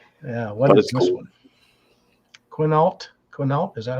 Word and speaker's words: Quinault: Quinault? Quinault? Is that how you pronounce that?